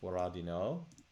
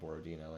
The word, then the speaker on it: Borodino: I think it's actually pronounced Boradino, but in it's usually called Borodino in in the west.